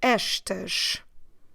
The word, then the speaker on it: estas: Instead of estes, we will have estas. Como se escreve?